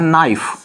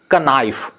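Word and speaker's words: knife: अगर एक और एग्जांपल हम लेते हैं नाइफ, लेकिन नाइफ चाकू या छुरी, लेकिन जब हम अलग अलग इंडिविजुअल यूनिट को प्रोनाउंस करेंगे तो क्या हो जाएगा, कनाइफ या फिर कनीफे, जो कि गलत है।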